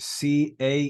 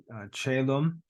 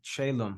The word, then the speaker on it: caelum: It can be spelled either way. Either way, it's pronounced caelum, so it doesn't make a difference.